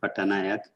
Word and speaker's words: Patanayak: Patanayak. I'm sorry for my pronunciation, but it's rather hard to be precise here. Yeah, thank you, Maxim. So you are correct pronunciation, Patanayak.